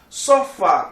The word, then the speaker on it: sofá: Sofá. Sofá tem acento, porque ele é uma oxítona. Eu digo sofá. A sílaba tônica é a última.